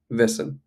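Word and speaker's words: wessen: question may come up so vessen okay vessen that's how you say it and this is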